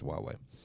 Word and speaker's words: Huawei: The correct pronunciation is Huawei.